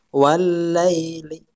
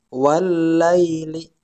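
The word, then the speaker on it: والليل: lam syamsiah paham ya cara bacanya Bagaimana wallaili langsung kelamnya ya langsung kelam yang bertasydid yaitu wallaili wallaili ya Ini bacanya seperti itu Oke kita lanjutkan ayat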